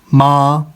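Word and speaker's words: 麻: सुनना है ये जो वर्ड है एम ए मा ठीक है अब जब हम इसको प्रोनाउंस करेंगे फर्स्ट टोन में तो हमने कैसे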